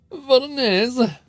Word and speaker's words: Voronezh: Voronezh. Who knows how you say that? You say it like mayonnaise.